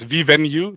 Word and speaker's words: Vivenu: So it's Vivenu. That's the perfect way to pronounce it.